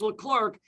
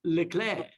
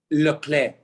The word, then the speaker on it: Leclerc: clark pronounced leclerc so here in baseball it's le clark in f1 racing it's le claire le claire it's the clay so